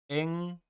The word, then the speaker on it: 罃: 량 해왕 양해왕은 위후 앵 야라 이 글자는 발음이 앵입니다 위나라 재후 엥이다 대량